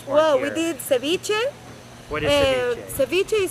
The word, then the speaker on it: ceviche: Ceviche.